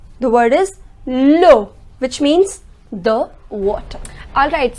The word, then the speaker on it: l'eau: Next, l'eau. The word is l'eau, which means the water.